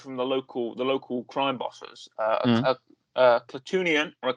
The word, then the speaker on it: Klatooinian: Klatooinian, I say Klatooinian, but Klatooinian is often the pronunciation of it.